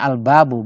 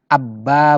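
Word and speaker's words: الباب: luas bahasa yang terindah albabu bacanya albabu bukan aba Bukannya albabu ini attajiru ya menelannya A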